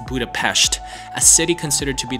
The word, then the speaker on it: Budapest: Budapest is the capital of Hungary it's not pronounced Budapest it's Budapest a city considered to be the most attractive